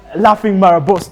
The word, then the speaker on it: Laughing Marabou: can pronounce this right, the how do they pronounce that? The Laughing Marabou. Laughing Marabou.